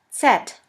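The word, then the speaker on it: Zett: the last letter is set set which is pronounced like the s in the word bits here we have the example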